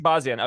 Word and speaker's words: Shahbazyan: Am I pronouncing that correctly? By the way, Shahbazyan. Shahbazyan.